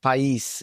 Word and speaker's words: Pais: My name is Pais. That's the way you pronounce it in Romanian. I was born in Romania, in Bucharest, Romania, as a matter of fact, capital of Romania.